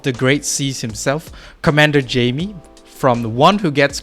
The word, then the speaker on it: Jaime: Yeah, if you could pronounce Jaime, that'd be great. It's like saying hi to the month of May.